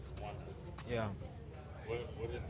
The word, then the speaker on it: Rwanda: So as far as Rwanda, am I saying it right? Rwanda.